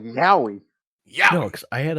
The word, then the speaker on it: yaoi: Oh, so it's yaoi. It is yaoi. It's yaoi. I'm I mad guess. that Yaoi? I actually pronounced it right Yaoi. first. Yaoi. Like when you like step on something like yowie.